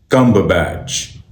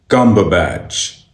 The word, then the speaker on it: Cumberbatch: इस नाम की सही प्रोनाउंसिएशन है Cumberbatch, Cumberbatch, Cumberbatch, Cumberbatch, Cumberbatch, Cumberbatch, Cumberbatch, Cumberbatch, Cumberbatch.